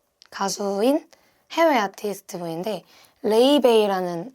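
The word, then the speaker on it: Laufey: 그래서 제가 많이 듣기도 했고 LP를 많이 산 가수인 해외 아티스트 분인데 레이베이라는 아티스트예요. 뭐 라우페이라고 읽기도 하고 레이베이라는 분인데 저랑 동갑으로 알고 있어요.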